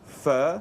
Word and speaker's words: pho: classic French Vietnamese dish which actually faux par it should be called fur correct it pronounce for